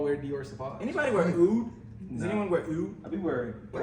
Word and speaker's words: oud: Oud.